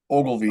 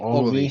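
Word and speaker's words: Ogilvie: I don't even know how to Ogilville. pronounce it. Ogilville. Ogilvy. Ogilvy. Ogilvy, Sorry, I thought there was whatever. another L in there.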